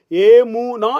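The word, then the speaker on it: אמונה: யமுனா என்று சொல்லி குறிப்பிடப்படுகிறது அதை உச்சரிப்பிலே ஏமுனா என்று சொல்லி எமுனா என்று சொல்லி அந்த எபரேய வார்த்தை உச்சரிப்பு காணப்படுகிறது இந்த யமுனா என்பதற்கு விசுவாசம்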